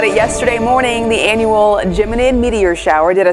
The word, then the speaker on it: Geminid: And hey, we told you about it yesterday morning, the annual Geminid meteor shower.